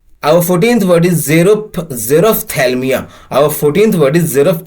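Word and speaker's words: xerophthalmia: 14th word is आवर 14th word is zero zero थैलम आवर 14th word is जेरो थलम या जिसका spelling हो गया एक्स ई आर ओ पी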